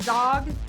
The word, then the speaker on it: Zaugg: and today we have author is it Zog am I pronouncing up yes perfect okay zombies she